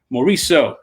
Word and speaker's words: Morisseau: her now miss dominique mauricio hello hello good how are you good good thank you for that very correct french pronunciation of my name we do listen we